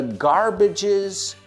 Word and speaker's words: garbage: So, what's the garbage's favorite part of the body? Y esta palabra garbage, acuérdate que rima con bridge, puente. No garbage, sino age.